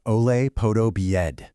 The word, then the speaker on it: Olaf Podobied: The founder of EDCAPIT is Olaf Podobied, and that's pronounced Ole Podobied.